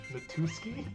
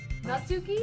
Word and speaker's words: Natsuki: Natuski? How do you say it? Natsuki? Alright, which Natsuki. Natsuki. What comes first, the U or the S, Morgan? Natsuki. Natsuki?